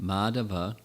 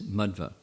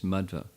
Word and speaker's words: Madhva: not first of all the pronunciation is not madhava but it's madhva they mean different things it's mudva second is madhva also